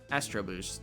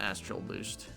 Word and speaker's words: Astro Boost: Astro Boost, not Astral Boost.